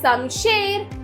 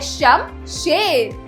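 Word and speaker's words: शमशेर: खत्म अगला शब्द है समशेर समेर तो बच्चों सही शब्द है शम शेर तो इसमें श म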